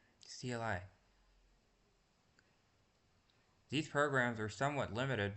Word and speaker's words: CLI: This type of program has a command line interface or CLI. Command line interface. Command line interface which is pronounced like the first part of climb and rhymes with sky. CLI.